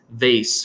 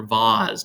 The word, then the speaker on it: vase: this is like a Priceless vase for example or Vaz depending how you want to pronounce it and um so there's